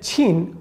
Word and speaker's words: Qin: to say that even if you say that chin one like in chinese it's written as q i n that is the chin dynasty but when we write